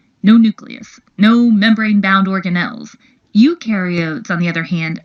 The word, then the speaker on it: eukaryote: Eukaryotes, on the other hand, remember eu rhymes with do, and they do have a nucleus, and other membrane-bound organelles.